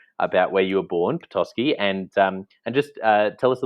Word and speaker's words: Petoskey: How do you pronounce it? Petoskey.